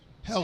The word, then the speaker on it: Helle: H-E-L-L-E. Hella. Hella. So But in Danish, you just pronounce it Helle.